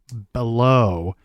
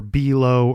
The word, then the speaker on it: Below: If anybody wants to look him up, it's Christopher J. Bellow, or Belo, or Bello, however you want to pronounce it, but it's spelled Below.